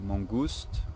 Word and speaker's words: mangouste: Mongoose in French it would be mangouste, almost the same word.